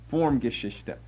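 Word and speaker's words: Formgeschichte: would be spelled like this they're f-o-r-m -g-e-s-c-h-i-c-h-t-e pronounced form is German for history form geshista uh you sometimes see as we'll get to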